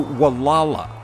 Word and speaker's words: Gualala: we ventured north into walala that's right the G is silent by the way if you're traveling on